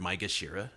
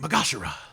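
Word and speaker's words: maegashira: in the english version they really butcher the word micah shira yeah they say oh he's the fifth ranked magashira my gosh and it's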